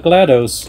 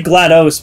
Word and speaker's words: GLaDOS: glattus oh my not GLaDOS glattus gladus say GLaDOS because they say like they put emphasis on the OS because it's it's all